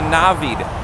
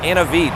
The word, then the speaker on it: Navid: way just real quick my name is pronounced a navid not an veed so if i'm going